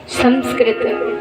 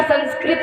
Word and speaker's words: संस्कृत: तो देखिए ये हमारी जो भाषा है संस्कृत, शुद्ध भाषा वैयाकरणों के अनुसार संस्कृत नहीं होता है, संस्कृत होता है।